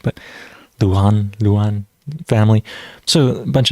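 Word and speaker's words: Luján: there were actually um l-u-j-a-n Lujan I think family I'm not sure I'm pronouncing the J properly I think it turns into an H but Luan Luan family so a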